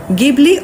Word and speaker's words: Ghibli: জাপানি ভাষায় অনেক সময় জি অক্ষরের উচ্চারণ ইংরেজি যে অক্ষরের মতন হয় বলে এটিকে জিবলিয়ার্ড বলা হচ্ছে। যদিও পশ্চিমের দেশগুলোতে কিন্তু এটি গিবলি অথবা গিবলিট নামে বেশি পরিচিত।